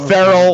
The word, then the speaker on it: Ferrell: By the way, we're not going to go with Goodell's pronunciation. Ferrell, like everybody's been saying it his entire life.